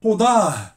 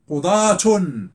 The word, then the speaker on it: قضاة: في حين هنا قضاه، قضاه، قاضي وقاضي وقاضي، قضاه، قضاة، ولكن يمكن أن أنطقها هاء، قضاة صحيحة، ماشي بحال صيه، لا يمكن.